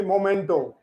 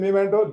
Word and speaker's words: memento: It is called normally momento. For no reasons, I think momento. So it is memento.